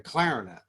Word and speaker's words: clarinet: You play the trombone and the clarinet. There's a first syllable emphasis on these.